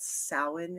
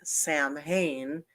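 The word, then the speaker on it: Samhain: you familiar with do you guys know what sin is who sin it's it's spelled s m ha Ai and Sam Hayne which is how a lot of people pronounce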